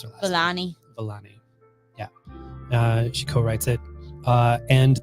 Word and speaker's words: Vellani: And then I forget how to pronounce her last Vellani. Vellani.